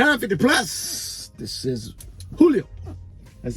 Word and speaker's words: Julio: So which way is the right way to say it? Julio. Yeah, the deeper part in the front.